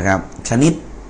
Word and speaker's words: ชนิด: เช่น ดู นะ ครับ ชะ นิด อ่าน ว่า ชะ นิด นะ ครับ ชนิด นะ ฮะ นะ อ่า